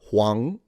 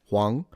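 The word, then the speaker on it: 黄: It's also the word for yellow, and it's pronounced Huang. Second tone, Huang.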